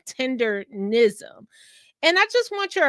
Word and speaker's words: Tendernism: I always say it wrong. So not tenderism, Tendernism.